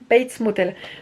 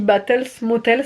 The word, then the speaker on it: Bates Motel: bates motel base là je le prononce bien bates motel ce que j'avais et j'ai été reprise plus d'une fois parce que j'avais dit batel ce motel ce mais je m'étais